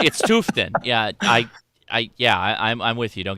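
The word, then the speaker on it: Tufteln: Big fan of it's Tuftin, but it's spelled like Tuftalin.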